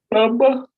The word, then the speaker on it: pampa: se dice pamba. Perdón, se dice pamba como con una B, pero se escribe pampa.